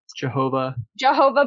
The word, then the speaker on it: Jehovah: So it's usually pronounced as like Yahweh or Jehovah.